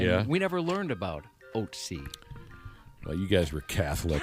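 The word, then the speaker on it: Ötzi: He says the mummy is, the pronunciation of its name is Otzi, not Otsai.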